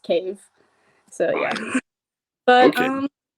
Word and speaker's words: Cave: And yes, my name is Cave, but it's just Cave.